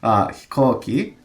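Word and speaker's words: 飛行機: Hikoki. We have the kanji for go in there, which is being pronounced ko in this case.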